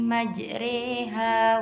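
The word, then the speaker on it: مَجْرٰىهَا: Wa qala rukabu fiha bismillahi majriha wa mursaha. Inna rabbi laghafurur rahim. Majriha di situ ada disebut bacaan imalah, yaitu memiringkan fathah ke arah kasroh.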